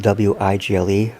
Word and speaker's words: Wigle: Recently, a viewer here on YouTube, Iris, and I don't want to mispronounce her name, but it's spelled W-I-G-L-E, Wigle, wrote a series of very interesting comments to me about the Bearwalker.